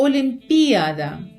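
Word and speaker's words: olimpiada: Вона допускає два різних наголоси. Один олімпіада з наголосом на а, а другий олімпіада з наголосом на і.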